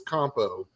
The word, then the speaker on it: Campeau: name if you're watching c a m p e auu somehow equals compo now you didn't you